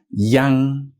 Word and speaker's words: yang: which means goodbye say next up we have Yang Yang another one that trips people up if they don't have proper pronunciation training because this is now going back